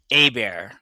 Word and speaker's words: Hebert: So, it's actually Heert is actually pronounced Abear. Like we we did discuss that that was the other option to pronounce that. So, its last name is actually pronounced a bear, which means they still occur in Oaklair, Wisconsin.